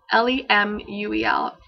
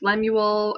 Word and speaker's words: Lemuel: L-E-M-U-E-L. This could be pronounced Lemuel or Lemuel.